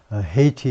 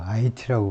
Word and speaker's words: Haiti: 물론 우리말에서는 이제 헤이티라고 안 부르고 IT라고 부르지만, IT라고 하는 것은 아마 그 불어 영향인 것 같아요. 우리가 이제 이렇게 쓰는데 나라 이름을 불어에서 아마 H를 발음 안 하고 그래서 IT.